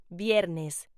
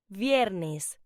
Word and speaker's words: viernes: Friday is pronounced viernes. Say it with me. Viernes.